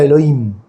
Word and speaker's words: Elohim: Para nosotros sería Elohim, la H muda.